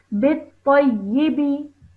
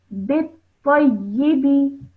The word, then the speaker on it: بالطيب: Now over here, what you have done is you have joined the ba to the ta, bit-ta, and then you have again joined that to the ya with the kasra. Okay. Bit-tayyibi.